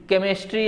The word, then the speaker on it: chemistry: या जैसे केमिस्ट्री अगर हम लिखते हैं तो स्पेलिंग क्या लिखते हैं? CHEMISTRY। तो कुछ अपवाद हैं इसमें। जैसे यहाँ पे CH को हम क्या पढ़ रहे हैं? क पढ़ रहे हैं, लेकिन ज्यादातर CH